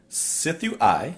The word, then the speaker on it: Sithu Aye: and today we're listening to excuse me ephemeris pronounced Sifu I soo do-si-do a CD why clearly its I